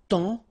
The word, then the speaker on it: temps: And then temps. Okay, so in that case, it's only the nasal here that you will hear. Temps. Okay, because the P is not pronounced and the S is not pronounced.